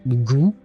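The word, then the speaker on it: goût: And uh that is pronounced goo just like the goo but in English but uh well in French except it means taste.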